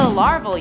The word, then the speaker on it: Larvel: In at nine, the Larvel universe, Earth 8311. Earth 8311 is known as the Larvel universe. Get it? cuz it it rhymes with Marvel.